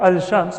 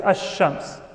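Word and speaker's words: الشمس: Ash-shamsiyya, because when alif lam is added to the word shams, the lam is not pronounced. We don't say al-shamsiyya or al-shams, we say ash-shams. Right? It's easier to just skip the lam and double the letter sheen.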